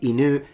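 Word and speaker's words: 犬: I mean, people in Tokyo will say inu, but people in Osaka will say inu.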